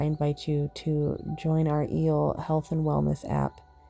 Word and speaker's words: EEL: If you want to dive deeper, I invite you to join our EEL Health and Wellness app. E at symbol L, pronounced eel like the electric eel in the ocean.